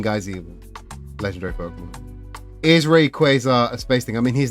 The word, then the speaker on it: Rayquaza: Um It is It is Rayquaza Um Ray as in like space ray, light rays, and quaza.